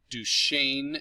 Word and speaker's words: Duquesne: He hails from Pittsburgh, Pennsylvania, got his formal music training at Duquesne University. It doesn't sound like the way it's spelled, but that's how it's pronounced.